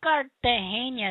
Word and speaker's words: Cartagena: You have to say it like they say it. Cartagena.